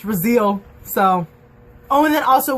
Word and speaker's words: Raziel: like fingers so oh and then the angel razil is how Luke says it and I'm like great that's another word that I was pronouncing wrong the entire time because it's spelled r a z i e l and so I'm like Raziel like Castiel but